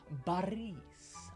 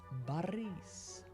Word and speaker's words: Boris: the E and so the O actually turns into an a when you pronounce it and you say Baris Baris bar Baris like this